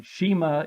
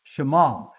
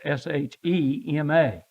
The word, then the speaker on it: Shema: called the Shema now it looks like Shima in in English but it's not Shima it's Shema sh well it's spelled s in English s-h-e-m-a but it's it's pronounced